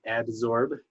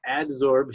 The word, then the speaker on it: adsorption: will come through and absorb to the surface so adsorb here is spelled with a D it's not absorb which is spelled with a be adsorbed with a D